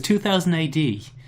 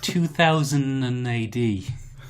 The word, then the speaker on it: 2000 AD: off error conversation sometimes when you're saying 2080 you put an extra syllable in I noticed it because you used so it's 2000 AD when when you're excited you say 2080 I noticed it when